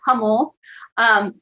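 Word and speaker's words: Jamul: a person from Hummel, you pronounce it as an H, not a J, but Hummel, they said, "We don't want to be part of 40.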